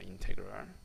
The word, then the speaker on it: 인테그럴: 그래서 읽을 때는 인테그럴이라고 읽습니다. 인테그럴.